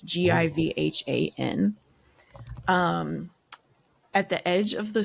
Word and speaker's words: Givhan: by Jennifer Givhan, I think is how I pronounced it. It's Givhan.